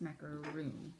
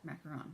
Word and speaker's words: macaron: I think it's macaroon. No, macaron, because there's one O.